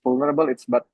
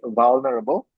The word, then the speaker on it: vulnerable: Some people pronounce vulnerable. It's vulnerable. Val use va not ver.